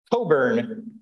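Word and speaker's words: Cockburn: from a guy named Alastair Coburn the CK is silent it's one of those weird English words with silent letters in it um and Alistair wanted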